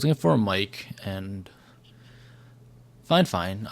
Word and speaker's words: Fifine: I was looking for a mic, and Fine. That is how I was told, is how they pronounce their name.